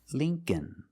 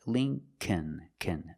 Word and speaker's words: Lincoln: The second L is silent, so it's Lincoln, Lincoln. Remember, the first syllable is a long E like green beans. Lee, Lincoln. So remember, when you see ing, ink, and sometimes inc, it makes the long E sound, like thing, think, and Lincoln.